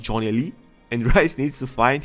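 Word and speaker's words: Gjonelly: n e l l y of course it's pronounced Johnny Lee and rice needs to find him and tell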